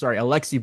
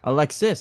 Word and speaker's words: Alexis: ago, and they released Alexi Bouquet, I should say. Got his name wrong. Alexis. I got that wrong twice.